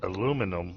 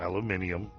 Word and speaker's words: aluminum: Uh, and yes, it's aluminum, not aluminium with the way it's spelled here. It's aluminum.